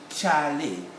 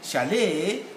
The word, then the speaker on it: chalet: which i've just said the stress is on the first syllable but when you go to america charlaine the stress goes to the next syllable the second syllable and so the same